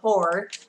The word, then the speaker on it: pour: Pour money in cái gì đấy, không đọc từ này là pour nhá, đọc là pour.